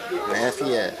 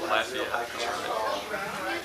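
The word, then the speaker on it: Lafayette: hurricane City okay and they pronounce it Lafia still lafette lafette all right there's the keer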